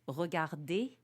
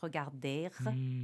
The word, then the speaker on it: regarder: And so people think that this ER is pronounced, and it's not.